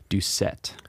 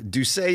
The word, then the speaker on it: Doucet: to introduce our new teaching pastor dr troy doucette yes am i saying that correctly because i i've been saying do say and do do say feels more louisiana do say is the the proper print a french pronunciation